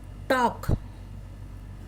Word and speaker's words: talk: Talk, T-A-L-K, here L is silent.